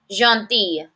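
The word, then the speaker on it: gentille: kind a may but a listen to that different pronunciation masculin jeti feminine jeti I have a Double L followed by an e jeti grow grow means fat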